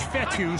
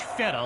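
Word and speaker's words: Fetu: into his hands so coach fethu spelled f-e-t-u for the longest time i was pronouncing it coach feta like feta cheese so let's just say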